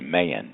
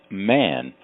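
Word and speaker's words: Mahon: actually U it looks like it might be pronounced May because it's spelled m a ho o n but the universe don't make no mistakes here and it's got to be pronounced man because Shelly is exemplary she's out there uh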